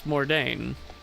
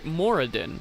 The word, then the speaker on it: Moradin: Chief deity of dwarves is Mordain. Oh, sorry, Moradin. Wow. Yeah, that was a mispronunciation and a half.